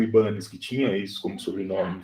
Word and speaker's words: Ibanez: Olha, o pessoal costuma falar Ibanez, porque a marca hoje é japonesa, mas se eu não me engano, a origem do nome é espanhol, e um japonês comprou